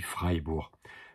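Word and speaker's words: Freiburg: se prononce i donc c'est Ie qui se prononce i en allemand donc on dit freibur ville libre quoi c'était des villes bourgeoises qui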